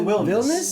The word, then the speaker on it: Wilnis: I thought you said Williams almost. No. Williams would have gone way that would've too gone- far Yeah, off. well, you can pronounce it like the Dutch way.